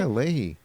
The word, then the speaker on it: Leahy: people up there were like who was it leahy is that how you pronounce it yeah leahey oh he made me so mad he was